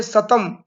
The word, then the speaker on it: सतम: के साथ, उसी को अवेस्ता में सतम अर्थात दंत सकार के साथ उच्चारण किया जाता है, सतम कहा जाता है।